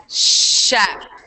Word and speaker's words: chef: That one's tricky because it's spelled with the CH, but what sound do we produce? Which, yeah. SH. Yeah, we produce the chef.